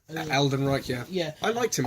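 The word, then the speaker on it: Alden Ehrenreich: How do you pronounce his name? Alden Einrich. Aldenreich, yeah.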